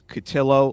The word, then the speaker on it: Cotillo: again we have Chris catillo last name rhymes with pillow he's a writer at